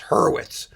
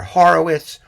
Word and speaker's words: Hurwitz: I spend my whole life having my own last name mispronounced. It's Hurwitz. And I hear Horowitz, this, that.